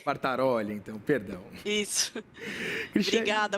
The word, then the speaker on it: Quartaroli: Quase, é Quartaroli. Quartaroli, então, perdão.